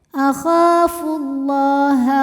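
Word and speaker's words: أخاف الله: Akhafullah. Lam pada lafaz Allah dibunyikan secara tafkhim karena huruf sebelumnya berbaris dhammah, maka dibacanya tebal.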